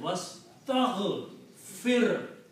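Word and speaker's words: وَاسْتَغْفِرْ: You have to pronounce fir very clearly. Sukoon, otherwise the meaning will become something else.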